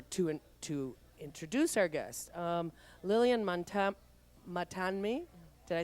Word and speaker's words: Matanme: Okay, now back to our guest, or to introduce our guest, Lillian Matanme. Did I say that correctly, Lillian? Lillian Matanme. Matanme. So the N is silent.